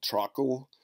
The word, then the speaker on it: Trakl: is not George this is Georg last name truckle alright that's fun to say with a K